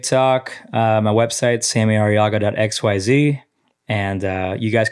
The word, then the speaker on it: Arriaga: Instagram name just Sammy araga just Sammy araga thankfully how do you spell araga a r r i a g a you got to roll the RS though can you roll your